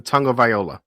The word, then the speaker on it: Tagovailoa: I don't know there's no N in this last name. So where does that N sound come? Tagovailoa.